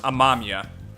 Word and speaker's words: Amamiya: So I ended up watching Persona 5 the animation and finishing that, so I know that's actually pronounced Amamiya.